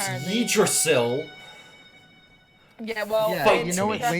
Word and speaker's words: Yggdrasil: Yes, Yggdrasil, because that's how it's pronounced It's apparently. Yggdrasil.